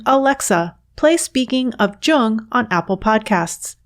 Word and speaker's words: Jung: alexa play speaking of jung on apple podcasts just be sure to pronounce jung with a hard j you can also stream